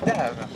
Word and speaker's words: Dave: Dave. Et c'est Dave comme le chanteur Dave. D'accord, qu'on prononce différemment cette fois-ci.